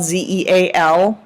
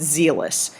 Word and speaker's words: zealous: very zealous okay so zeal and zealous they're not pronounced the same but it's the same